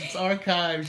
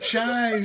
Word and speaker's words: archives: It's archives. You had it right. I said archives. I know, and then you went with chives. Like it's some kind of seasoning for a baked potato.